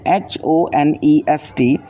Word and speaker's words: honest: Student, ऑनेस्ट मैन, when we write honest, so we will write HONEST, but when we pronounce this word, so we will say honest. So o sound is producing here, and H is a